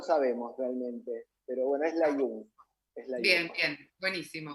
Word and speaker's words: Layún: Layún es el apellido, yo sé que es un poquito difícil de pronunciar, pero bueno, suelen Hay un.